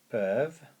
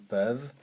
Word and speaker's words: peuvent: ils with an S, peuvent, and you remember that the ENT there is silent, you do not pronounce it. Ils peuvent it, le, and then see, voir. Ils peuvent le voir.